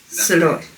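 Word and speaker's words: Szalay: Soloy.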